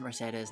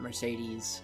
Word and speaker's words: Mercedes: her to the kingdom yes it is mercedes not mercedes it's it's just how they say it she may seem carefree